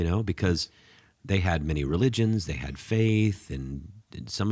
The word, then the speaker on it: religio: Well, the word religious in Latin, religio or stuff, I'm not exactly sure how you pronounce that.